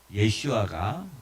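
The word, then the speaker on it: ישוע: 실 조 씨와 예 그 여호수아 와 마찬가지로 예 슈아가 히브리어 원래 발음입니다 예 1 씨가 자 자 그럼 그런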